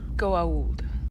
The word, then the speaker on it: Goa'uld: There should be an apostrophe after the A before the U. It's pronounced Goa'uld.